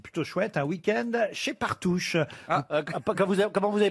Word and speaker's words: Partouche: Ah bah oui, parce qu'en plus, vous avez gagné, c'est plutôt chouette, un week-end chez Partouche. Comment vous avez prononcé?